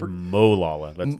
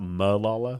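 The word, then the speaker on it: Molalla: county is almost 1800 you said molala that's the right way to say it not Malala or wot of people say I say Malala but a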